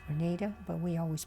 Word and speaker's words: Granada: name of the town i understand now that's pronounced grenada but we always pronounce the granada being from california the following morning was the